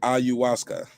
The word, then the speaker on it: ayahuasca: out of you um somebody said it's pronounced ayuasuka ayahuasca there you go thanks